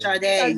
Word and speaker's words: Sade: Yeah, Sade. Sade, yeah.